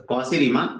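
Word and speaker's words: Cauchy: था कौसी ठीक है इसको ऐसे नॉर्मली कौची पढ़ सकता है लेकिन कौसी बोलते हैं रिमान ये दो लोग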